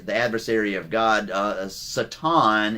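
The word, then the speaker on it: שטן: Uh Satan is actually the correct way to pronounce it in Hebrew.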